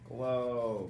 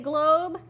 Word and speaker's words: globe: a map, it's a Globe. Very good. So we're going to spell it G-O-O-B. That would say glob. How do I make it say globe? If you said a magic E, you're right.